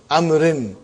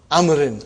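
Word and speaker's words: عمرو: Haza kitabu amrin. Waw is still written. Are you with me? It's not pronounced.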